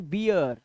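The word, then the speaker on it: beer: इय जैसे देखिए अब इसे बीर नहीं पढ़े अब से पढ़े बियर डियर यर स्टियर यर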